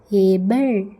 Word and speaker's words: able: லாஸ்ட்டில் இ ஒரு வார்த்தையில் கடைசியில் இ வந்தால் சைலண்டாக தான் வரும் அப்படின்ட்டு முந்தின கிளாஸ்லேயே சொல்லியிருக்கேன். அதனால் இதில் ஏ பெல், ஏபிள், ஏபிள் அப்படின்ட்டு உச்சரிக்கணும். சரியா?